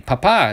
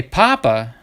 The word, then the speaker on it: papa: pointed out to me papa is dead daddy papa if you accident the second a but when you say papa with the accent on the first day it means potato like a bag of potatoes would be a bulsa de papas you know a potato bag so when people were